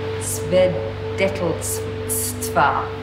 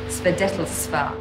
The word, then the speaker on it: Свидетельства: Свидетельства. Свидетельства.